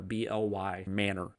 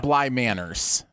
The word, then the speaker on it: Bly Manor: The Haunting of Bly Manor, BLY Manor. Okay, very nice. MANOR. Not like manners. Not like Bly Manners. No, it's Bly Manor.